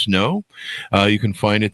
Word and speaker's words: SNO: A Quantum Portal has opened, part of the SN O Chronicles, pronounced Snow.